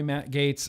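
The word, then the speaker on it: Gaetz: here uh southern comfort matt goetz yeah also republican from florida gates but oh is it gates i'm sorry matt gates i've been saying your name wrong uh yeah republican and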